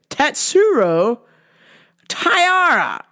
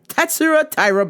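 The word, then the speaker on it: Tatsuro Taira: Simon Petrino uh let me say it right tatsuro tyara Tyra yes there we go tatsura Tyra Banks oh this is a tough one here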